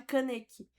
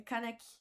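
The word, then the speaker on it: Kaneki: Não, realmente a pronúncia não é caneque, é canec.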